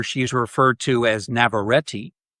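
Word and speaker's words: Navarrette: So, the two leads are Michael Johnston, who plays Bear, and Indie Navareti, as I found out her name is pronounced.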